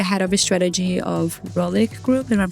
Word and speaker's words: Rohlik: You are the head of the strategy of Rohlik Group, and I'm pronouncing it correctly.